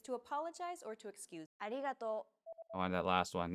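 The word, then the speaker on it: ありがとう: Riso pronounces this sound it sounds like a mixture between an r and an l sound the another way of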